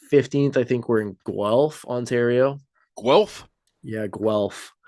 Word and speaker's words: Guelph: Then we're in Windsor on August 8th, and August 15th, I think we're in Guelph, Ontario. Guelph? Yeah, Guelph. Spelled the way it sounds? How do you think it's spelled?